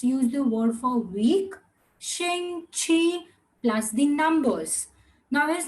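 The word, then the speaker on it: 星期: Shing chi. Now X and Q both different pronunciations. Shing chi. It's going up.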